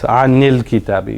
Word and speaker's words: al-kitabi: We can't have two unvoweled sounds, right? When you have two unvoweled sounds, how do you pronounce it? This is an. Right, an. This is l-kitab. That letter actually in the middle isn't pronounced.